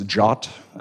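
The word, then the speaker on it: JWT: known as JW TS you'll sometimes hear people pronouncing them as jot it's kind of one of the ways they go by so why don't we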